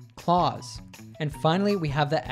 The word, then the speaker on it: Claus: the s for clause which is also pronounced as a z sound clause and finally we have